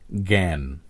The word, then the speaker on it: জ্ঞান: একইভাবে শব্দের শুরুতে গ বা জয়জ্ঞ এর উচ্চারিত রূপ হয় গ চন্দ্রবিন্দু গ এর মতো, যেমন জ্ঞান, আর শব্দের মাঝে বা